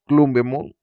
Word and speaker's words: Grumblemon: Yo de niño siempre lo pronunciaba, le llamaba Orcomoon, no sé por qué, pero es Grumblemon.